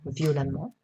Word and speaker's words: violemment: donnera vaillamment innocent innocent attention deux orthographes une prononciation voyant quelques exemples d'abord en amt méchant méchamment brillant brillamment suffisant suffisamment et maintenant le nt violent violemment différentes différemment évident évidemment